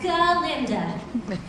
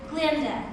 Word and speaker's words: Galinda: Yes, since Dr. Dilliman had his own way of pronouncing my name, in solidarity and to express my outrage, I shall henceforward be known no longer as Galinda, but as simply Glinda.